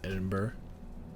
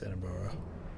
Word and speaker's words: Edinburgh: also went to uh edinburgh i think that's how you pronounce it i don't think it's edinboro but maybe this i don't know uh